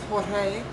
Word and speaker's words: Jorge: And this Pope, his name is pronounced George, in his native Italian it's Jorge, and I think God's got a sense of humor, like harlot that rides the beast.